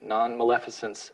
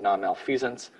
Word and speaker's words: non-maleficence: Non-maleficence, which I always used to pronounce as non-malfeasance, that is incorrect, is I'm going to do everything I can to avoid harm.